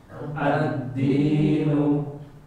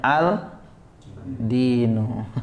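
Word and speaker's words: الدِّينُ: baca addinu mengg Pak addinu jadi Alif lamnya bukan dibaca Al Dinu tapi addinu attaubatu nah attaubatu arrahimu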